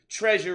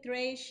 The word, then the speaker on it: Tre'sure: Ladies and gentlemen, Tre'sure right here on Music Loves Honey.